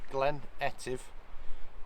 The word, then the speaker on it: Glen Etive: whole Scottish Valley and this is called active by the way Glen etive I said it wrong before but a whole valley